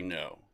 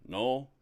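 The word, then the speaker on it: knowe: It's known as the fairy no the hill of the good people. Now this word no k n o we e. I've also heard it pronounced null and it means like a hill.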